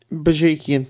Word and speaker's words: Bajakian: Brought in a new one who I don't know how to pronounce his name, Sam. Mike Bajakian. Bajakian, thank you.